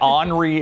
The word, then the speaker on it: Henri: And Henri is how it's pronounced. Yes. I've actually been called Henri before.